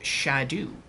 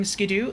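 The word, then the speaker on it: Scadu: one Jan says yes track them also it's pronounced shadu and Old English word yes I've heard that and I don't care I enjoy saying skido I'm going to continue saying sko you had both it picks up both at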